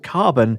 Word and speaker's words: CRBN: hand the odyssey carbon spelt crbn and pronounced carbon is a high-end headphone